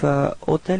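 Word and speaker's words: hôtel: it's the same thing keep in mind that even if otel is starting with Ash Ash is actually not pronounced so the first sound of the of the word is O so it does mean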